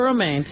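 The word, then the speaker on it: Romijn: Actually, I should drop the Stamos. It's Rebecca Romaine. I think homos rhymes with Stamos.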